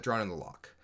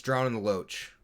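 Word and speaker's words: Drown in the Loch: the the i say the proper prince pronunciation right is drawn in the lock um people know this like i know this um but it's drowning the loach right have fun with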